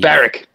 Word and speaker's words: Barwick: Barrick. I call him Barrick. Barwick. He spells it. He says his surname wrong, and I'll let him know that every time we talk. The W is not pronounced.